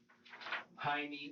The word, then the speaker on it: Jaime: The J in Jaime here is pronounced with an H sound, like it would be pronounced in Spanish. But Michael and the detective pronounce Jaime with the J sound.